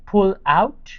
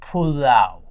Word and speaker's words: pulao: You say pull out. So, you just say pulao.